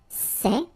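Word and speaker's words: ces: set feminine form and for the plural you've got only one form okay and it's say okay remember open Say Say Say Okay one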